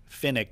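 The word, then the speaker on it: Fenwick: Well, the grandfather, Don Finnick, it's pronounced Finnick, but it looks like Finwick.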